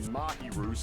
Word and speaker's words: Mahiru: or not we find mahiru's killer mahu I've been pronouncing her name wrong like this entire time nevertheless we shouldn't ignore